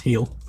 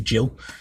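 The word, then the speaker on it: Gil: Bo Shannon and Carlos he'll I think he's right it's pronounced heel he's actually Jill um but yeah so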